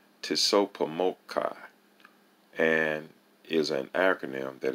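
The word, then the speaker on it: TSOPAHMOCCI: of civilized cultural information for short it is pronounced tisso pomokai and is an acronym that is spelled t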